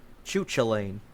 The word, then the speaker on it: Cuchulainn: Got the Shield of Cuchulainn, because people can't pronounce that name right. Choo-choo-lane. Choo-choo lane, yeah.